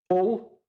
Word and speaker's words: Hull: East Yorkshire town called all Oh pronounce it so you understand it it's all with a hitch and if you're even